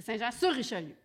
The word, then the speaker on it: Saint-Jean-sur-Richelieu: C'est Saint-Jean-sur-Richelieu. Exact. Alors, on a avec nous, sur ce petit cours de comment prononcer le De nom de géographie.